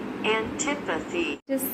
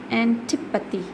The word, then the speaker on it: antipathy: Antipathy. You have to say tip. You have to stress on tip. Antipathy.